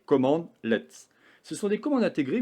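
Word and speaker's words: cmdlet: va utiliser ce qu'on appelle des command let prononcé command let ce sont des commandes intégrées ou personnalisé au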